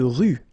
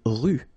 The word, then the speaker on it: rue: à tous Leon C dans la ville une rue not pronounced une rue une voie ferrée final e not pronounce une